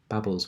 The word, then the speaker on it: Babel: What we can do, in fact, let's go to Babel's website. I found out the other day it is called Babel, not Babel. So I feel much more comfortable pronouncing it Babel.